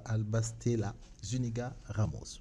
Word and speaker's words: Alba Stella Zuniga Ramos: real et donc je vais dire bonjour à albas stella zuniga ramos bonjour bonjour j'ai bien prononcer le nom ça déjà parfait merci merci